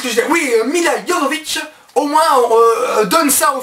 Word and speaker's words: Jovovich: Bon, à la limite, pour le film, on dira que Mila Jovovich, je sais pas comment on prononce son nom, j'ai toujours dit Jovovich, mais apparemment c'est Jovovich.